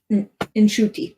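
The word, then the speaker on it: Ncuti: people just don't like inuti is how his first name is pronounced so inti's um version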